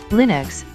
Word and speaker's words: Linux: 2012 and lion 2011 Linux pronounced Lin UX is a family of